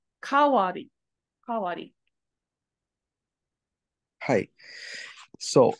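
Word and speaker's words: 代わり: However, when dai turns and has the hiragana character as wari after it, it actually is pronounced differently. It's pronounced as ka. Kawari.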